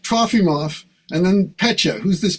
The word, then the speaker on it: Trofimov: But yeah, if there are multiple, Trofimov, the second last syllable is usually what you hit.